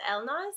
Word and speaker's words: Elnaz: to say it but my first name is Elmo's and my last name is behind guys so